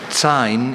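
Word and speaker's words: tsine: Sign is a noun.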